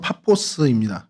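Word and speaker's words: Πάφος: 어 이름이 지금 그렇죠 바보인데 원래의 발음은 파포스입니다. 그 헬라어로 파포스라는 곳인데요.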